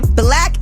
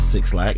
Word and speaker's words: 6lack: They don't pronounce it Six Lack. It's Black. Yeah, it's Black, but I'm saying it's spelled Six Lack.